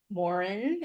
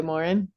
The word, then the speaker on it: Morin: and life coach Morin. Is that how you say it? Yes. I think the my French Canadian relatives way back said Morin, but yeah, we've just always gone by Morin.